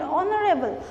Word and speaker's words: honorable: And when you use honorable, and YH is silent, honorable. We don't pronounce the word, the letter H. The H is kept silent.